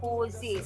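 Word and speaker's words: José: dia ada salah sikit, dia J, ya, tapi kita tak pronounce J. Untuk bahasa Spanyol kita sebut Jose saja. J tu tak bunyi.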